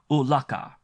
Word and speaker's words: ulaka: Thus they pronounce quite plainly ulaka their name for this city.